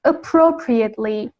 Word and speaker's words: appropriately: The pronunciation is appropriately. When it's a verb, is appropriate, and the verb form, has a different meaning. Appropriate. It's closer to the meaning of the word plagiarism that we had in earlier units. Yeah, appropriate as a verb means somehow plagiarism, okay? But as an adjective and as an adverb, it is pronounced appropriate and appropriately.